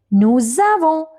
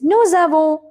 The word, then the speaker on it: nous avons: We say nous avons because S we have to connect with A. So it is nous avons.